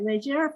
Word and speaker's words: Leger: So it's Leger, actually. But it is Leger. That's how I wanted to pronounce it the French way. Leger Fernández.